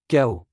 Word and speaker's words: chaos: moustache, The letters CH together sometimes pronounce as K, in some words, particularly which are of Greek origin. Let's take an example. Chaos. So in French it is pronounced as chaos, archaeologist.